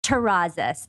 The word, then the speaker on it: Terrazas: it's not always easy it's terraza and if you know how to roll the tongue it's that last us Oh terrazas you know I I